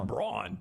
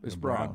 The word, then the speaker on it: Braun: tells us it's brown I know it doesn't look Brown he tells us it's brown but again watching him